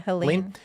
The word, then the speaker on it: Helene: Click Orlando says Florida residents who choose to ride out, is it Helene? Is that how you say it? Yeah, Helene.